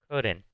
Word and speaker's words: couldn't: forma corta que es couldn't. Esta es la forma negativa del verbo couldn't. Pongan atención a la pronunciación. Couldn't, que se escucha esa T.